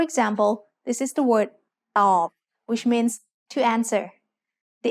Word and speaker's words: ตอบ: ตอบ follows the same tone rule we just learned. Middle class consonants with a dead syllable form a low tone.